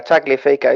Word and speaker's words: Tagliafico: Tagliafico. Is that right? Yeah, Tagliafico.